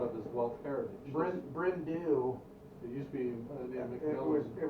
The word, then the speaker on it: Bryn Du: was very proud of his wealth heritage brent bryndew it used to be it was it was called uh it's pronounced it brendee and it's welsh for dark hills the dark